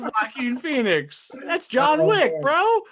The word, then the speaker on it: Joaquin: actor and we started that was jo kwon phoenix no man it's joaquin that's wacky in phoenix that's john wick